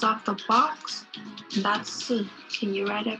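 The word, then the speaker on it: 四: pronounce it as si. Try saying it.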